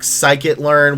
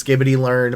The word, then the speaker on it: scikit-learn: Spark, scikit-learn, which I will always pronounce as skibbity-learn, pandas, numpy, dashboards, data visualization.